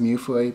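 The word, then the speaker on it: Mewfeuille: with uh muoy and yes I believe it is pronounced muoy because um I am Canadian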